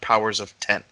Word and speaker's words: Powers of X: It's actually pronounced Powers of 10.